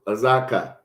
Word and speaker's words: Azekah: So that will be said in Hebrew, Azekah.